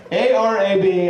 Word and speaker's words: Arab: Arab Alabama real place a r a b Alabama really should be pronounced Arab Alabama I love that they